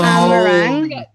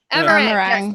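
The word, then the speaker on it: Amh Araeng: Amarang. Amarang.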